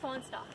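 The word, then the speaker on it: Fahnestock: How do you pronounce it? Fawnstock.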